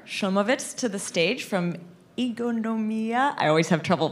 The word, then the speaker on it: Ingonyama: my name is I'm the founder of fincon Yama this is how you pronounce it The Talk today is uh going